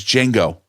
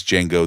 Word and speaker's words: Django: and he says like my name is Django that he says ah but the D is silent he was original Django